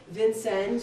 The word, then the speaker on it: Vincennes: and then of course vincennes or with a French pronunciation of SN so those are the